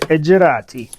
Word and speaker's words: Edg-e-ratti: I said Edgerati, because if I'm going to insist on Shaman being pronounced as Yakutians do, I should also insist to pronounce Edgerati the way Italians pronounce Maserati.